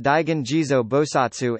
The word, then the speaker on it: Daigan Jizō Bosatsu: Pronounced Daigen Jizo Bosatsu in Japanese and Jijong Bozal in Korean.